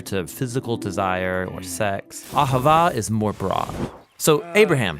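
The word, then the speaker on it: אהבה: languages as it is in ancient Hebrew it's pronounced aava it most basically refers to the kind of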